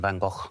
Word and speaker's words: van Gogh: Hashtag rhymes with lock. Hashtag living my best still life. That is Dane. Vincent van Gogh. Is it Vincent van Gogh?